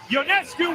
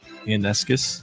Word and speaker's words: Ionescu: Ionescu will heave and hit!